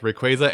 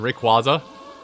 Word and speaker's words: Rayquaza: it is official like the official dub does say both Rayquaza and Rayquaza so whatever you whatever you're thinking you're right on the pronunciation of that so you can have